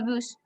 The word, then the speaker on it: bus: Et tu dois prendre le bus et on Le bus, la S se prononce. le bus.